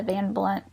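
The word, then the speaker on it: Van Blundht: David dy's name because a lot of people try to pronounce it with the H oh yeah and it's silent I see so I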